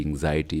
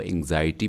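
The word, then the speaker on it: anxiety: एंग्जाइटी माने परेशानी, फ़िक्रमंदी, एंग्जाइटी, इसको एंग्जाइटी पढ़ते हैं, इसको प्रोनाउंस करते हैं एंग्जाइटी, यानी कि बहुत ज़्यादा परेशानी।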